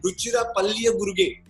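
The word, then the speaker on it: Ruchira Palliyaguruge: See, you got to give me just for pronouncing his whole name right. Ruchira Palliya Guruge.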